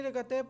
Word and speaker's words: रकात: सलाम के बाद आपको कितनी रकतें पूरी करनी पड़नी। यार वो ना बार बार बोल के और माइंड से स्किप हो गया कि इसकी प्रोनाउंसिएशन क्या है। रकात है, हाँ हाँ रकात है,